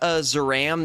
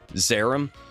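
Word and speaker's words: Zeiram: I Zaram the animation or they mispronounce it, uh, Zarum.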